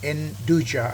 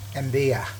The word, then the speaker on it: nduja: And this ravioli has got, how do you say that, enduja I used to call it, but actually it is endeya.